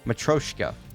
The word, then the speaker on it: Matryoshka: Matryoshka. That's how you say it.